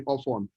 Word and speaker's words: Ofon: I'm from Bible State, so just call me Ofon. Ofon is spelled O-F, off, O-N, on. Off and on, joined together, Ofon.